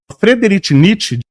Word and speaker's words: Friedrich Nietzsche: Todo mundo sabe que a pronúncia correta é Friedrich Nietzsche.